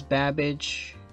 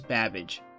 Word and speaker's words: Babbage: And Charles Babbage, those characters are coming out.